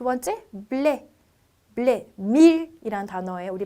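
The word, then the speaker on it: blé: 액센트가 있는 경우에 약간 입이 닫힌 상태의 에로 발음해서 에떼, 여름이라는 불어 단어예요. 두 번째, 블레, 밀이라는 단어예요.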